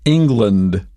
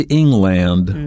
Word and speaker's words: England: that ends in land it may not be pronounced that way for example England we don't say England right we say England but at the end is Lent Scotland is another example